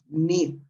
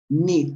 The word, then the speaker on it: knit: The head is to knit, knit with a short sound. Una I corta, no es knit, knit, okay?